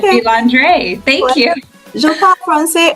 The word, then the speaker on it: Vilendrer: Okay, because you pronounced it the authentic French way. It's a French last name, and that's the correct way of saying it. Although, most people say Vilendrer, but I was delighted you said Vilendrer.